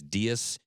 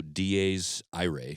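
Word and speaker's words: Dies Irae: I looked up the pronunciation on this track. It says DS. Okay. DS. DS. Awesome track by Allegian or also DA's IRA.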